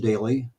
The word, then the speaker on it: Doelle: at it please join me uh Daly if you look at his last name kind of an unusual spelling but it's pronounced oun daily well there we go hey there I am